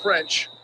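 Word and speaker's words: Ffrench: Anthony Gordon for the Chiefs, throwing to Maurice French. He's got first down yardage, fourth quarterback of the night for Kansas City. And that's not a typo. The first F or the second F is silent.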